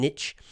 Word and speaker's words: niche: So there are many, in business they're called, niche or niche. We'll just use the standard old American pronunciation, niche.